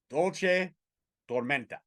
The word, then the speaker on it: Dulce Tormenta: Bambi Bam Bam Hall going at Dulce Tormenta.